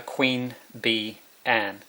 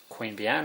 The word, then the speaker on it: Queanbeyan: Queen Bee Anne. I live near Queanbeyan, but it's spelled a bit differently.